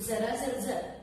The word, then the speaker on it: जर्जर: तर वार्धक्याने विकल झालेला यालाच संस्कृतमध्ये जरा जर्जर असं म्हटलं जातं. यातील जचे उच्चारण तालव्य आहे.